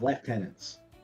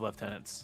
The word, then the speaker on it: lieutenant: The cadenss in particular space have left tenants. No, the cadenss also have left tenants. It's just how the Imperium pronounces lieutenant.